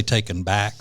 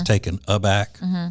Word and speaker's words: taken aback: little taken taken aback a lot of people say taken back but it's taken aback this proper way to say that by the fact that